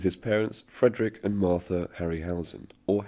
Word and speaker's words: Harryhausen: parents Frederick and Martha Harryhausen or Heron house as it is pronounced in his native language witness a trio brain